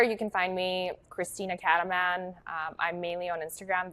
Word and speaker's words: Cataman: And then Cataman is spelled just like you hear it.